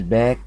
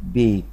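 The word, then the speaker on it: bake: الاي سنت ما بتتنطق والكلمه مش باك غلط طبعا بنقولها بيك بيك يبقى الاي اللي ورا وراها اي الاي اللي ورا ورا حرف الاي دي ترجعلي الايه تخليها ايه زي نطقها في الاي بي سي يبقى نخليها اي يبقى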